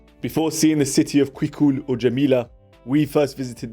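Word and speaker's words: Cuicul: Day 3, and we are in Quicul, that's the pronunciation, Quicul, and it's the second largest ancient Roman city in Algeria.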